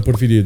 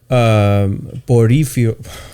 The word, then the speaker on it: Porfirio: He had a coup, military coup on Porfirio Diaz. Yeah. So just to take it a little bit step backward from there, Porifirio.